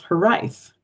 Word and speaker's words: Hiraeth: And the next poem, I also had to look up the pronunciation of the title, which is Hiraeth.